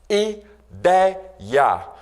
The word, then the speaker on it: ideia: Exemplos: estreia, ideia, androide. Reparem aí que a sílaba mais forte nessas palavras é justamente a penúltima. Portanto, estreia, portanto, androide, são palavras paroxítonas.